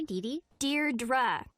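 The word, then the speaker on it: Deirdre: it or something hi Dee Dear dra I know it's got that tricky second syllable but I figured it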